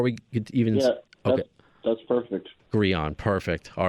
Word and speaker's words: Grean: the way ladies and gentlemen uh am I pronouncing your last name right first of all before we even yeah that's perfect gon Perfect all right because I'm I think I